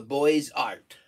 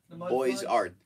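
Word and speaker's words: Beaux-Arts: the it's called the boys art boys art the b e u x the x is z boys and the s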